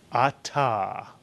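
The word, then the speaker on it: אתה: The word is Atah. A two-syllable word, two vowels, two syllables. Ah is the first syllable, ta is the second.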